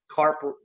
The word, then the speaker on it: CARP: CARP rhymes with HARP, in the CARES Act refinance program.